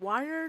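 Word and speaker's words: Wyrd: Is it wired? Is it word? How How do you pronounce that? Weird.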